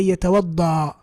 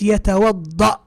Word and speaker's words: يتوضأ: So يتوضأ here without the hamza is wrong, because now I'm going to say يتوضأ. لا, it's يتوضأ. You see that glottal stop at the end where we come to a stop? That's the hamza.